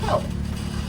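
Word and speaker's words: kō: Sugarcane is pronounced ko, K-O in Hawaiian.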